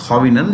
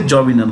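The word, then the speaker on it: Jovenel: It's pronounced Hovinel. You could say Jovinel also.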